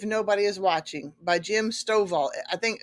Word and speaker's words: Stovall: thing even if nobody is watching by Jim Stovall I think it's pronounced s-t-o-v-a-l-l I'm going to repeat that Integrity